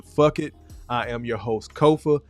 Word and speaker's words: Kofa: I am your host Kofa k-o-f-a not coffee not Khufu not Kofi or any variation thereof Kofa rhymes with sofa easy to say easy to spell right there on the